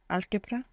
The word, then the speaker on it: álgebra: Álgebra.